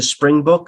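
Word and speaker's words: Springbok: the on the jewel kangaroo they use a spring book and that's South Africa right Africa yeah that's that's pronounced Spring Book I I've heard I see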